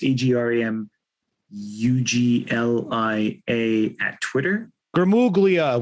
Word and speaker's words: Gramuglia: Gramuglia. We talk about the silent G every time we talk.